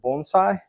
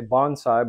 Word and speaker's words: bonsai: one of my favorite Bonsai and Americans say Bonsai but in Japan they call it Bonsai and so I'll try